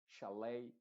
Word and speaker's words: chalet: lo más importante acá es que la et en estas palabras que son de que vienen del francés se están pronunciando con la letra original a que sería e baley o sea Olvídate en estas palabras exclusivamente eh olvídate de la et y ponle una a b buffet chalet proch